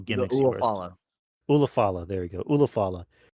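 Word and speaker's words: Ula Fala: And then the show ends with Solo holding up the I keep saying it wrong. Ulafanta? Ulafala. Ulafala. Ulafala.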